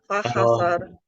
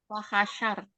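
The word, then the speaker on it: فحشر: Fahasar, fanada. Fahasyar.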